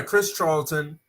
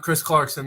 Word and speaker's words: Charlton: He turned down a WWE contract and said it was translated by Chris Charlton, not Chris Clarkson. I said his name wrong.